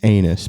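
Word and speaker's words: Anas: It's anus by the way.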